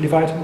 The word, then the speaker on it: Leviathan: Is that pronounced correctly? Leviathan, yeah.